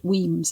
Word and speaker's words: Wemyss Bay: I know it's a funny spelling, but it is pronounced Wemyss apparently.